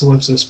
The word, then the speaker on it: Solipsis: It's pronounced Solipsis, by the way.